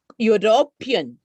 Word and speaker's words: european: on right and no though it begins with a vowel the sound produced is that of a consonant university you european useful and therefore we